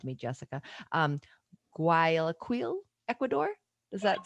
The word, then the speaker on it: Guayaquil: Um, Guayaquil, Ecuador. Does that sound Guayaquil. okay? Thank you. Guayaquil, Ecuador.